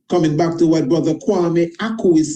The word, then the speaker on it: Kwame: My own name is Kwame, but in pronunciation, it becomes corrected to Kwame, as you have in Kwame Nkrumah.